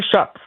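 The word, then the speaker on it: Shough: How do you pronounce the name? Is it Taylor Shock? Tyler Shock.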